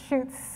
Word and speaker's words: Scheutz: I think it's Schutz.